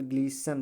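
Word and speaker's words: glisten: जाएगा, ग्लीस्टेन नहीं पढ़ा जाएगा, ठीक है, अर्थात ग्लीस्टेन नहीं पढ़ा जाएगा, तो क्या पढ़ा जाएगा, केवल ग्लीसन पढ़ा जाएगा, क्या पढ़ा जाएगा, ग्लीसन, ठीक है।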